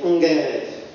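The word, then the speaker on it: ערב: the most interesting thing, they pronounce a I as a n or as a n, which is quite different from what we say. So they say, instead of saying erev, they say ungerev, which is quite unique among Hebrew pronunciations among different communities.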